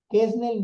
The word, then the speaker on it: Quesnel: Termina en L. Yo hablo español, no español. Entonces él Es aguda. es aguda, no es Kesnel, no, Kesnel. O sea, tendría acento en la última sílaba si terminara en N, S o vocal. Así me lo explicó mi maestra de primaria.